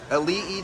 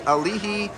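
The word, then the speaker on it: Aliʻi: ice cream and donuts how do you say the name of this building we're about to go to this Elite Tower Elite so the next building we are going to pass on the right is the alihi tower I'm glad that's how you say it because I had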